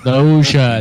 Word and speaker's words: Loggia: And the grandfather had Can you help out with the pronunciation here, Chuck? Yeah, Robert Loggia. Loggia, there we go.